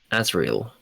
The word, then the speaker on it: Azrael: It's a different It's Yeah, but Azriel. Yeah. Oh, that's how he pronounces it.